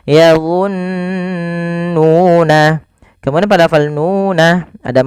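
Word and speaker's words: يظنون: Maka yadhunnuna jangan langsung yadhunnuna tapi ditahan dulu nunnya yadhunnuna.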